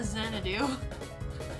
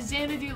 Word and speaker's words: Xanadu: mouthful, it's Shiki Aki Yama Xanadu. Like Xanadu, like the Olivia Newton-John song, but not like the Olivia Newton-John song.